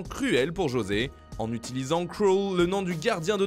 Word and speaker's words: Krul: pour José, en utilisant Krul, le nom du gardien de Norwich et héros de cette séance de tir au but, dont la prononciation est proche du mot cruel en anglais.